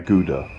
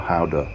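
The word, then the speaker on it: Gouda: had to go via guda or howder as the Dutch pronounce it but no chese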